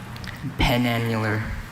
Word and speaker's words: penannular: Penannular. And can I hear the pronunciation again?